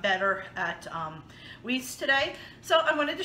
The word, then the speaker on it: Weis: I always call it Weis, but I believe it's pronounced Weis.